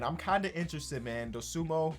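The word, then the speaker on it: Dosunmu: Dosumo, right? That's how you pronounce it.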